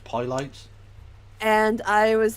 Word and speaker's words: Pilates: It's pronounced Pilates.